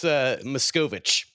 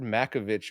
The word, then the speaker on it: Machkovech: Well, let's Machkovech is how you say it. Machkovech. It's Oh, like Milady Machkovech. Yeah, it's I, I didn't make it up. I think I said Makovich or something, so it was That's a wrong, but standard.